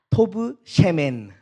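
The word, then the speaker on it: טוב שמן: 그랬더니 원어로는 이렇게 발음하더라고요. 따라해 보겠습니다. 좋은 이름이 토브 셴, 좋은 기름보다 토브 셰멘. 그러니까 이제 좋은 이름이 좋은 기름보다 낫다는 말씀은 원어로 토브 셴, 토브 셰멘.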